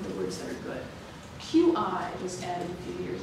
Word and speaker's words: qi: QI was added a few years ago. It's pronounced qi, and it's a Chinese word for kind of energy.